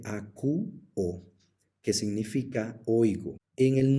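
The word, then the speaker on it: ἀκούω: el verbo a quo Recuerden que aquí tenemos nuevamente un diptongo que se contra Al momento de pronunciarlo se dice aq o que significa oigo en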